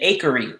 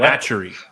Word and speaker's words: Acheri: it's so what the akery it's spelled a-c-h-e-r-i at some cultures not hatchery you throw me off